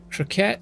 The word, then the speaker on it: croquette: How would you pronounce that? Croquette and fish sticks.